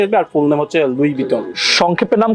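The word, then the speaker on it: Louis Vuitton: আপনার মাথায় ঠিক নাই এটা লেখা আছে এল ও ইউ আই এস লুইস ভুইটন হবে এটা হচ্ছে একজনের নাম যখন হচ্ছে আপনি একসাথে বলবেন তখন হচ্ছে লুই বিটনই বলে তাহলে আমি যে এতদিন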